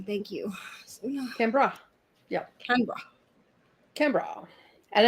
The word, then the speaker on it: Canberra: Okay, here's the pronunciation. Thank you. Canberra.